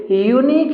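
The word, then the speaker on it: unique: यूनिक book यूनिक book तो इसके बाद वाले शब्द का उच्चारण कीजिए तो यूनिक है मतलब यो आया यो यो लगेगा आता है कंसोनेंट तो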